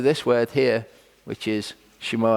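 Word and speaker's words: שמע: So the first part of Shema, this letter here, this Hebrew letter is a sheen. Okay, sometimes a seen as well, so it makes either an S or a sh sound.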